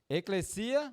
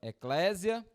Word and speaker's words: eclesia: Eclesia, muitas das vezes a galera pronuncia eclésia, mas é um termo grego, é uma palavrinha no grego, e eclesia, muitas das